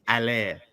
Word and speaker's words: Haller: You don't pronounce the H. It's Haller. Haller.